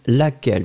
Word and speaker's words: laquelle: So, laquelle, you will write it with the double L and E, so you pronounce it laquelle.